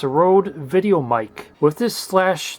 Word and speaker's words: Røde: based in Australia, so the slash is purely for show, and they just pronounce it Rode.